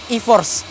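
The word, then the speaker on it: e-4ORCE: misalnya makan sebagai teknologi e-force bacanya gampang tapi tulisannya agak sulit eh empat orce jadi bacanya i4 nah teknologi tersebut sudah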